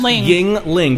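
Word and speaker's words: Yuengling: oh yeah that's the next line um Yingling pronounced Yingling which to be fair uh a friend of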